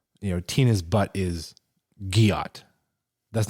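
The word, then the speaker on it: gyatt: guot g y a I had to verify the pronunciation because I wasn't sure if it was giot or guot right I would have guessed I don't know whatever yeah they said it's a hard G not J so it's it's Gat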